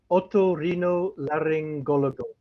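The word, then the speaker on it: otorrinolaringólogo: So I can pronounce it right. Otorringo and then otorrinolaryngologo.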